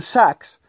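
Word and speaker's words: Sachs: Sax eh Y goldman saxs aunque no se escribe Exactamente igual se pronuncia como si fuera goldman saquea eh el hombre de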